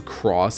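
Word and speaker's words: χ: 2.8 featured an original 60-minute cinematic called Back Cover, a companion piece to the PC/mobile game Kingdom Hearts Chi, which I will never willingly pronounce as cross in any context.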